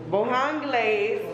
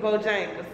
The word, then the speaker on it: Bojangles: Bohonglaise, how you say it? Bohonglaise. Is Bojangles.